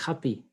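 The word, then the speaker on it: agapè: Et le dernier, c'est Agapé, mais j'ai vérifié cet après-midi et la prononciation, c'est Happy.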